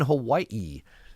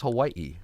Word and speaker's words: Hawaii: It is Hawaii. Like Maui and uh Kawaii.